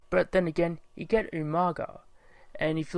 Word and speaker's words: Umaga: But then again, you get umaga. And if you look at the spelling and the way William Regal used to pronounce it as umanga, well, pretty much that's